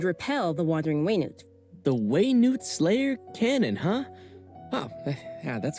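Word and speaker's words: Wenut: Slayer Cannon and repel the wandering waynet the way Newt Slayer Cannon huh yeah that's quite oh that's how you pronounce it the way news Wise It's very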